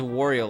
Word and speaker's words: Wario: What, Wario rhymes with Mario?